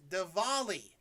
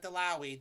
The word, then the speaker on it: Diwali: festival of lights incorrectly it is Diwali Diwali not delawi Diwali Diwali I am